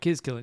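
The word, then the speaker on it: Cillian: retreat which was a film made with uh Killian Murphy I believe that's how you say his name and Jamie Bale. Killian.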